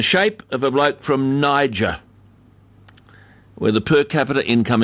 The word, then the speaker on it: Niger: obviously doesn't know that the nation of Niger more often pronounced Nazir is named after the